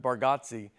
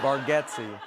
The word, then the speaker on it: Bargatze: I told you I think you say our last name correct with "Bar-got-see" and I think we say it wrong as a family. "Bar-get-see."